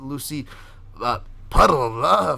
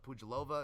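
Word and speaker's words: Pudilová: Money's getting tighter on this favorite, but Lucy Puddle for the old school listeners. Pujilova, if you want to be proper and actually pronounce her name the right way, over Yunan Wu, or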